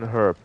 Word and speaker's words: herb: Blame America for not saying H in herb.